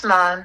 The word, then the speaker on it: naan: So I love hummus, Greek olives, cucumbers, naan, or nan, I don't know how to pronounce it. Naan, it's naan.